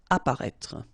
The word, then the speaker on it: apparaître: Apparaître. Okay, so exactly the same situation here with this circonflex. You don't pronounce it. Remember to write it, but you don't pronounce it. Apparaître.